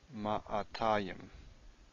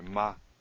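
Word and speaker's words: מאתיים: Ma'atayim. Sorry, ma'tayim. Matayim. I first said it wrong. This is actually a quiescent aleph. There's no vowel following it.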